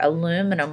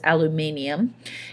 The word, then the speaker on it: aluminium: family aluminum right here aluminum or as the british says aluminium is the most abundant